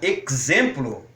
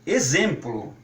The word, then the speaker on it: exemplo: Se as pessoas quiserem pronunciar exemplo, não vejo problema nenhum com isso, certo, Elide? Mas o sugerido pelo português padrão é pronunciar como exemplo. E talvez até por força de como é pronunciado em inglês.